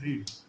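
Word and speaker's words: read: रीड का past tense रेड होता है। लेकिन दोनों का स्पेलिंग हमेशा सेम होता है।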